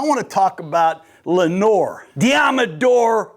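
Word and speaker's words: Deommodore: Deodor Lenor. It rhymes with Commodore.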